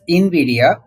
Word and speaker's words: Nvidia: of you are aware of Invidia it is pronounced as Invidia I in Invidia this is a Latin word meaning that someone